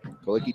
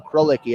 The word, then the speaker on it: Krolicki: Kalicki takes it away from Krolicki, actually. My mistake on the pronunciation.